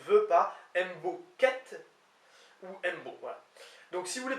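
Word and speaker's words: 'mbo: Donc, je veux, semble-t-il, c'est apostrophe M-B-O. Mbo, un peu comme dans des langues un petit peu africaines, semble-t-il. Donc je veux ou je ne veux pas, Mbo quête ou Mbo.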